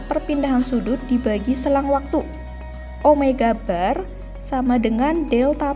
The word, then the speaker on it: omega: Kalau dulu di GLB ada V, di GMB ada omega. Ingat ya, bukan W bacanya, tapi omega.